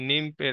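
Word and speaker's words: gnome: যে কি বলে রূপ সৌন্দর্য সেইটার সঙ্গে এই নিম্পের একটা কানেকশন আর কি মানে নিম বলতে কাইন্ড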